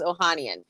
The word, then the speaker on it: Ohanian: the honey i'm totally butchering his name alexis ohanian we know that he and he has his